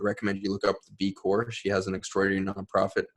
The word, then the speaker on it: B Corps: There's another B Corp, but hers is with the ES. So B Corps, pronounced B Corp.